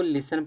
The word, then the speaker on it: listen: इसको लिसन पढ़ते हैं।